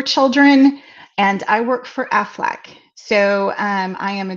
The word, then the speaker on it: Aflac: you yeah yeah actually the way i say aflac everybody goes oh my gosh you say it like a duck so and i never